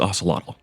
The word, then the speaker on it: Ocelotl: Well, it's Ocelotl. Ocelotl. If you want to pronounce it correctly, I don't know if I do and spelled it right, but did it right.